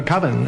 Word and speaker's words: coven: koven koven koven uh coven that's the proper pronunciation no no coven sounds like Oven Man and that's just